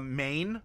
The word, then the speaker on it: mein: It could be people of a certain mane or mean, depending on how you want to pronounce it, M-E-I-N, not like chow mein or something.